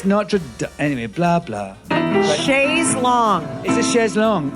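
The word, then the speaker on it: Notre-Dame: I think bad I think American people's bad pronunciation of French words drives me nuts so Shay's oh NRA Dame is on fire I was like you people yeah it's notra anyway blah blah Shay long it's a sh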